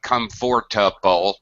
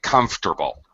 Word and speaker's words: comfortable: For example, native speakers don't say chocolate, we say chocolate. We don't say comfortable, we say comfortable.